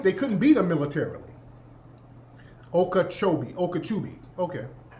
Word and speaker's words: Okeechobee: what's that ikea chobi ikejovi am i saying it right the okeechobee okeechobee river okeechobee lake lake okeechobee